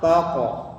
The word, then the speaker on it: taqrabu: Jadi jangan take, tapi taqo, tebal, taqo. pantulannya ke o, lebih ke o ya.